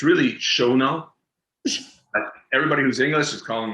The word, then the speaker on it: Chagnon: Chagnon. So hot, no, Chagnon. But then it was Shannon, and people calling it during the scenes, and I'm like looking at them going, "You're really not pronouncing her name right."